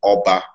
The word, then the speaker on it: Oba: what's your name and i say my name is oba and they say about they start adding bits to it because they think it can't just be that but that is just what it is and um so i